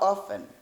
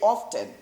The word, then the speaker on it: often: away with kwara how often don't say often no we say often it's better to use to pronounce like that often how often do you